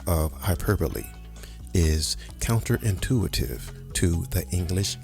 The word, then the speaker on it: hyperbole: I'll have the hyper bowl of soup, please. Nope. The B O L E is pronounced using two syllables.